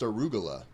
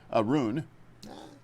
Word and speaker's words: Aroon: I think it's pronounced arugula. Aroon. Nah, not arugula.